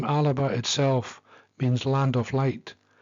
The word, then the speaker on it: Alba: Alba, pronounced Alaba is the name of Scotland when it was founded in the year 843.